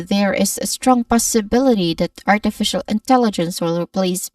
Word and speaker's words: possibility: Possibility which has five syllables starting with pause which has a short o vowel sound and then awa sound and bill which has a short e vowel sound and t still with a short e vowel sound. So we try to practice saying it like strong possibility stressed on bill.